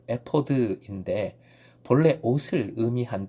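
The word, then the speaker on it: אֵפוֹד: 만드는 방법이 기록된 부분입니다 에버 원어 발음 은 에 포드 인데 본래 옷을 의미한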